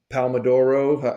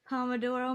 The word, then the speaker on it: Pomodoro: Maybe they'll apply the uh, Palmadoro. How do you say that? Pomodoro method.